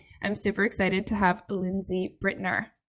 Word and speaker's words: Lindsay Brittner: So I'm super excited to have Lindsay Brittner. Is that correctly pronounced? Yes, that is.